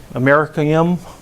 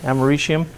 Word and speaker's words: americium: not used except for plutonium americium is used americanium right americium is the way you pronounce it anybody know what it's used for